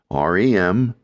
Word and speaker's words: REM: Rem pronounced as a single word rem or rapid eye movement sleep and nonrem sleep.